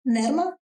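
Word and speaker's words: Nerma: But when whoever can pronounce it Nerrma, I would prefer that.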